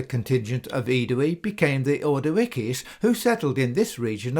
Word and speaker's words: Ordovices: should be read as Ordovices. Ordowices is the Greek spelling of the name and would have been the original pronunciation of the Latin as well.